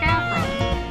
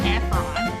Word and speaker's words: Efron: but it's pronounced Zac Efron, not Efron. He's not French.